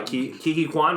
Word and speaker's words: Ke Huy Quan: Ke Huy Quan, right?